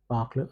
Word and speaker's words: parlent: And il il parlent again. ENT is silent in every conjugation e n t will be silent.